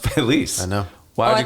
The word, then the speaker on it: Feliz: los feliz feliz because it's a Spanish word Felice like and that's the word it's a real word it's pronounced Felice I know why do you call it Los felizer Hispanics will do it